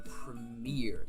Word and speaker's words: premier: So you put the emphasis on the premier. You put the emphasis on the ear.